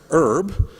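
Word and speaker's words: URB: raising funds for it spelled you our be pronounced herb and has the tagline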